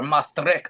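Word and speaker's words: Maastricht: I was living in the southern tip of the Netherlands in a small city called Mric or Mustri they pronounce it.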